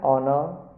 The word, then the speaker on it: honor: For example, an hour, an honor, an heir, an honest. In all these words, the first letters h are silent, so an is used before them.